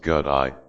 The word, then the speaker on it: gate: The first gate pronounced gut eye symbolizes going beyond samsara.